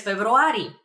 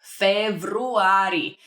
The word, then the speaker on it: февруари: For example, I'm born in February, so I would answer през февруари. През февруари. It's very similar to February. Februari. Just a little bit of a trick over there in pronunciation, but that means in February.